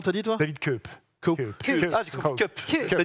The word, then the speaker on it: Koepp: Ça s'écrit comment? C-O-E-P-P. Comment t'as dit, toi? David Koepp. Cup.